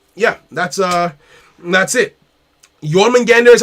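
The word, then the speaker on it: Jormungandr: um so yeah yeah that's uh that's it yorman gander is how you pronounce it oh well that's never gonna i'm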